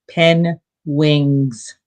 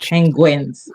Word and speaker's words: penguin: special or something, and he called them pen wings, Oh, not penguins.